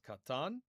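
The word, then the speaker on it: קטן: We come next to the word for small, which is katan. Kuf tet nun. Kuf tet nun. Katan. That means small. Kamatz, kamatz. Two long A vowels.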